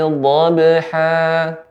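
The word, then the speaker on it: ضَبْحًا: Ya, pengucapan huruf dha lebih dalam lagi Bapak, yaitu tepi lidah, ya, kedua tepinya mengenai gigi geraham atas. Wal 'adiyati dhabha.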